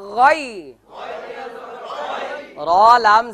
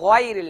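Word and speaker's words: غير: জের রিল গাইরিল একসাথে গয়ন উচ্চারণ করতে ঠোঁট গোল হবে না গয়রিল হবে না গয়রিল না দেখুন গয়রিল গয়রিল চমৎকার একসাথে বলুন মিম গয়ন জবর মাগ গত ক্লাসগুলিতে বলেছিলাম মাগো মাগো এরকম হবে না গাইরিল মাগো না গয়রিল মাগ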